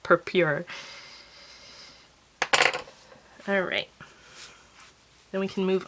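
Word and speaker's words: Purpure: u RP u re so I'm assuming that's pronounced per pure alright then we can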